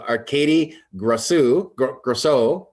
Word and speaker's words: Arcadie Grosu: So today, straight from the eastern side of the globe, we have Arcadie Grosu.